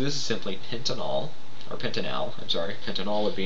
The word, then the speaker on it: pentanal: So, kind of interesting, but we pronounce it an-al. So this is simply pentanol. Or pentanal, I'm sorry.